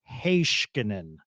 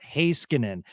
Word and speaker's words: Heiskanen: The other one that Sean says, because my co-host went over to Finland, and he said, no, this is the correct pronunciation. Heiskanen, not Heiskanen.